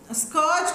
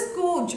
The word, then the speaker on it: scourge: School ஸ்கூஜ் ஸ்கர்ஜ் கிடையாது ஸ்கூஜ் அப்படின்னு pronounce பண்ணும்.